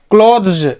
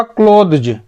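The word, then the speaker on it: clothes: ना तो कपड़े थे, क्लोथ्स, इसका प्रोनाउंसिएशन होगा क्लोथ्स, द होगा ना, ये क्लोथ्स, क्लॉथ नहीं पढ़ेंगे ना, जब CLOTH सिर्फ रहेगा ना तो उसको क्लॉथ पढ़ेंगे, अन्यथा इसे क्लोथ्स मतलब बहुत सारे कपड़े।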